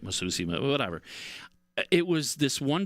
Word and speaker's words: Massucci: I'm like, "Oh man, Massucci.